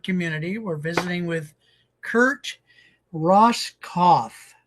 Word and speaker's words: Roskopf: We're visiting with Kurt Ross Kauf. So, the P is silent.